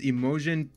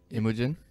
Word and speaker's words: Imogen: other movies with him in it but it's emojian poots is that how you pronounce it emotion imogen imagining yeah you don't remember imogen heap no